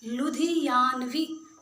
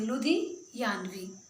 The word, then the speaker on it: लुधियानवी: कई बच्चे शब्दों का उच्चारण ही ठीक ढंग से नहीं करते, लुधियानवी ही नहीं बोलना आता, लुधियानवी। ठीक है, तोड़ कर पढ़िए, लुधियानवी।